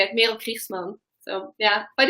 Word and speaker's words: Merel Kriegsman: So you're the real pronunciation is Merel Kriegsman, because I am Dutch, and I know you're kind of like a half Dutchy too, right?